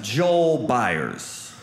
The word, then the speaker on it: Byars: But, you know, so in Atlanta, my name is pronounced Joel Byars. But in Rome, Bars.